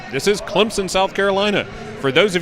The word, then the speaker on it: Clemson: that's right this is Clemson South Carolina for those of you that are not from here there's an invisible p in Clemson often mispronounced phonetically as Clemson only locals know